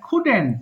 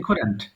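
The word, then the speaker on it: couldn't: এটা কি আছে আই কুডেন্ট খেয়াল করবেন উচ্চারণটা খেয়াল করবেন হ্যাঁ এটা ভুল করে অনেকে কুডন্ট বলে ফেলে কুডেন্ট হবে না কিন্তু সিম্পলি কুডেন্ট আবার পড়ছি বাট সি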